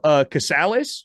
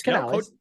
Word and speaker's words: Canales: We're going with the Spanish pronunciation. It's Canales.